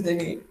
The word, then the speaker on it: Denis: It's, I'm pretty sure it's Denis. Denis Villeneuve.